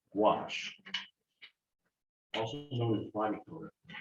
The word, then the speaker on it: gouache: It's pronounced gouache, also known as body color.